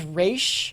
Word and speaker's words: Ra's: the actual way it's pronounced Yeah. is Raish.